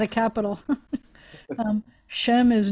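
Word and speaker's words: שֵׁם: name or reputation um when i was growing up we would pronounce it as an a and not an i told you in modern israel now that two dots like that is is most often pronounced as an e and so you'd say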